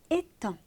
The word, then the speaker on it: étang: Souvenez-vous, le vilain petit canard, il nage sur un étang. Attention, on ne prononce pas le G. On dit étang.